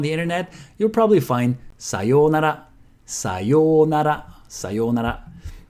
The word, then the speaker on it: さようなら: If you look it up on the internet, you'll probably find さようなら, さようなら, さようなら. Or sometimes you also hear it with a short yo, さよなら, さよなら.